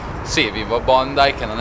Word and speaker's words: Bondi: siamo a bondai beach che scrive Bondi Bondi come il ministro però si legge bondai è una spiaggia immensa